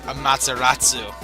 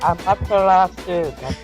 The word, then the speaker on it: Amaterasu: Yes, you need to come wash it out with your Amaterasu. I totally messed up on pronouncing that crap. Amaterasu.